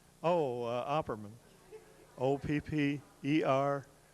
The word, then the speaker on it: Opperman: could we have your name and could you spell it please same as yours what the other name oh uh Opperman OPP ER m a n you've got you